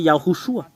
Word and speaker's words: Yahushua: Et alors que le fait de prononcer cela, c'est Yahushua. Yahoo, Yahoo, Yahoo et Shua.